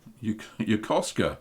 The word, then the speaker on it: Yokosuka: Yokosuka? Yokosuka. That's how you say it.